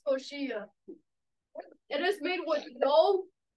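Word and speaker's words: coxinha: the first one is the New York it pronounces koshia it is made with no is it a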